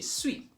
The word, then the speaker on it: suis: Je suis ends in an S. I could have said je suis. But in French, you don't pronounce, in most cases, you don't pronounce the final consonant. So, je suis, tu es, il est, elle est.